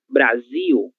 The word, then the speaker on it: Brasil: Temos aqui duas palavras com a letra L no final da sílaba. Se ela está no final da sílaba, ela vai ser lida como se fosse a letra U. Portugal, Brasil.